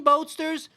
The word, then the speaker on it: Boatsters: Yeah, so Dean Boatsters rhymes with roadsters.